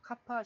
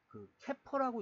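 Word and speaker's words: CAPA: 그래서 카파 시스템의 연계. 캐퍼라고 읽는 사람도 있고요. 캐퍼, 카파.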